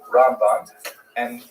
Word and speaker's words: Ramban: Rambam is pronounced with the emphasis on the first syllable, Ramb. And Ramban is pronounced with the emphasis on the second syllable, Rambam and Ramban.